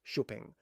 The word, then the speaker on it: Xpeng: The Xpeng G9. Now, Xpeng, pronounced "Sho peng", is one of China's most serious tech-focused car brands.